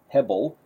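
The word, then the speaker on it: הֶבֶל: We would pronounce it as hebel, and it means vanity or worthless, but it also has the idea of vapor or breath or smoke.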